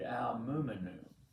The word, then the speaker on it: Al-Mu'minun: one Friday with our Muslim friends at Masjid al-Mu'minun. Their imam, their clergy leader, Tamir, tried to teach me how to pronounce it this last Tuesday at our service.